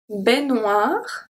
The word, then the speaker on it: baignoire: I don't pronounce the E, and the AI make the sound E, baignoire.